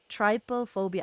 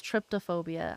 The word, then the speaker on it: trypophobia: do you say it Trypophobia I thought it was tryptophobia I thought there was a t in there but I guess not well if you love